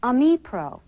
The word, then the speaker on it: Ami Pro: correct pronunciation according to Lotus Development Corporation is Amipro. So that's the way we'll pronounce it during this course.